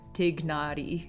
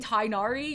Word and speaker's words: Tighnari: exactly the same but I think what you all are saying is that you could say like take naughty and still be kind of acceptable is that what it